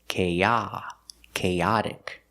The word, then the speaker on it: chaotic: a sound K chaos but with chaotic the stress is on the second syllable CH chaotic let's look at the pronunciation of chaotic the same sounds the long a link together with a short a sound k k but we move the stress K and the t is the fast D sound chaotic chaotic chaotic chaotic is